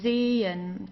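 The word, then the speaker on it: zehn: right after that um the only function of this h is to stretch the vowel. So here zen okay so we don't say zen or zen or so we don't pronounce the h at all. It just has the function to stretch the E. Okay. Zen. Zen. Okay. Don't pronounce the H, please. It's just Z.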